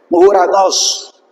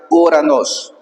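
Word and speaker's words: οὐρανός: Omicron e Y, entonces este siempre se pronuncia como una sola vocal, U. Esto es importantísimo. Nunca es correcto decir O. Vas a decir siempre U. Importante. Entonces, acá por ejemplo dice Uranos.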